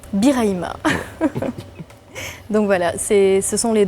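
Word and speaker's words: Birahima: Prononcé Biraïba. Biraïma.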